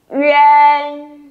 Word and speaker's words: yuan: Các bạn lưu ý cũng không nên đọc là uy an. Chữ an đấy hẳn ra như vậy nó sẽ hơi cứng, nên mình sẽ đọc hơi mềm ra một chút nào. Yuan, tròn miệng nhá.